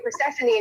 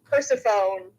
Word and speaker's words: Persephone: Well, because in Greek, you say the sign of E differently. Because that's why you say Persephone, not Persephone, like a nerd. Persephone.